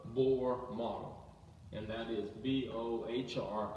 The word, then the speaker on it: Bohr: And that is B-O-H-R. It's Bohr. It's B-O-R. The H is silent.